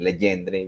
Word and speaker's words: Legendre: yang y sus propiedades no tienen que pronunciar legendre en francés pueden decir legendre bien paisa si quieren pero bueno queda